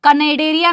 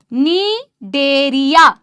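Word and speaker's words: Cnidaria: सपोलो नीडेडरिया कनेडेडरिया नहीं है गाइस। नीडेरिया मेरे साथ में बोल रहे हो ना सीलेंट्रेटा बोलो या नीडेड एररिया बोलो सी साइलेंट है इधर कनेडेड एररिया नहीं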